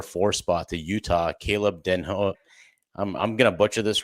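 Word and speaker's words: Desnoyers: spot to Utah, Caleb Denho, I'm I'm gonna butcher this, Ryan, because you're used to me butchering it. So, like, let's have it. How do you say the last name? Denu.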